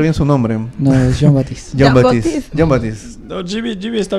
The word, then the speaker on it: Jean Baptiste: Le decimos JB porque nadie sabe pronunciar bien su nombre. No, es Jean Baptiste.